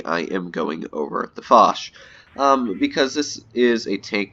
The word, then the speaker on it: Foch: This tank is pronounced Foch. I know a lot of people think it's Foch. It is a French pronunciation as Foch, so that is a bit of a little pointer.